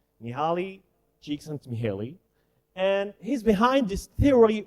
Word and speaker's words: Mihály Csíkszentmihályi: Well, you cannot spell it correctly, but this is the way he told people to call him. Mihaly Csikszentmihalyi.